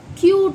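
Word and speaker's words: cute: एम यू टी ई तो अब आपको पता चला कि सी यू टी कट होता है एंड सी यू टी ई कूटे नहीं होगा क्यूट होगा अब पता चला आपको डिफरेंस क्यों है क्योंकि लास्ट में इ आया कंसोनेंट के बाद इ आया तो हम बोल सकते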